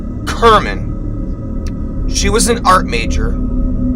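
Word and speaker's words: Cerman: we all knew her her name was Gail Kerman pronounced Kerman she was an art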